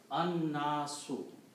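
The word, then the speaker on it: النَّاسُ: You don't pronounce lam, so there is no harkat on lam. Noon should be pronounced twice, so there is a shadda on that.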